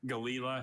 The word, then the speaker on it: Galila: Galila has just the one pronunciation.